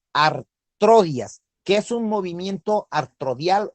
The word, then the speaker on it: artrodia: ¿Qué es un movimiento artrodial o qué es una artrodia? Entonces, artrodia se escribe A-R-T-R-O-D-I-A, artrodia.